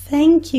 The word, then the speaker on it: thank: Por isso que nós não podemos pronunciar o obrigado, obrigada, thank you, com som de T. Porque tank é isso aqui, é um tanque de guerra. Tank. Thank, com a ponta da língua entre os dentes.